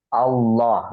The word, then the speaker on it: Allah: fathah k gitu ya maka harus dibaca tebal saya seperti Qul huallah sebelumnya bacaannya apa fathah ada Fathah di situ huruf wa wa WAnya fathah maka ini tebal maka dibaca tafkhim tebal Allah dibacanya tebal ya kemudian jikalau bacaannya itu sebelumnya adalah kasrah ya sebelum kata Allah itu ada kasrah ya maka ini harus dibaca tipis ya saya kasih contoh